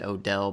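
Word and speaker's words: Odell: myself with that it's we pronounce it O'Dell but really there's no apostrophe so really it would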